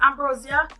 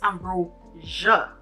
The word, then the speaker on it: Ambrosia: And then while I was sleeping, and then somebody saying, John Baptiste, Ambrosia. First of all, honey, you say my name wrong. It's Ambrosia.